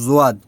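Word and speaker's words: ضاد: মিষ্টি আছে ওইগুলো দেখবেন অক্ষরটা একটু ভারী ভারী, ঠিক আছে, একটু ভারী উচ্চারণ, যেমন জোয়াদ।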